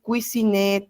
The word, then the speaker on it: cuisiner: Esa ER final no se pronuncia. Aimer, cuisiner, travailler.